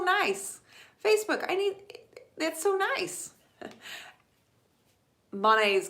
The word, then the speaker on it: Monet: Monet's garden, not to be confused with Monet's, because I was saying it incorrectly. The proper pronunciation is Monet.